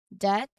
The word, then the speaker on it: debt: So for the letter B, the key is to watch out for it late after an M at the end of the word or before a T. So these are consistent patterns in English that will help you pronounce these words accurately. Let's try saying these words aloud together, really focusing on keeping that B quiet where it should be.